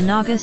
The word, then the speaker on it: Naga: naga people the naga people pronounced naga are an ethnic group conglomerating of